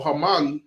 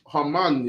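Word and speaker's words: Haman: they when when when hmon or Hamman which is probably better pronunciation Hamman yeah when he was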